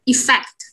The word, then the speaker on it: effect: Cả hai từ này trọng âm đều rơi vào tiết thứ hai, và cái từ đầu tiên nó sẽ là đúng không? Âm affect. Cái này sẽ là effect.